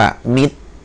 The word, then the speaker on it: มิตร: ต่อ ไป นะ ครับ อ่า อ่า อ่าน ว่า มิตร นะ ครับ นะ ครับ นะ ถ้า เรา เห็น